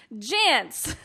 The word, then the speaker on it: Jantz: How do you say his last name? Just like pants, but with a J. Jantz.